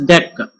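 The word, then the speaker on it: deque: It is pronounced as DEQ. It's not DQ, it's pronounced as DEQ.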